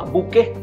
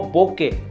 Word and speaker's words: bokeh: consigna que se llama buque o buque a muchas personas depende de donde estés lo pronunció en forma diferente pero en realidad viene una palabra japonesa que significa desenfoque o desenfocado y eso es en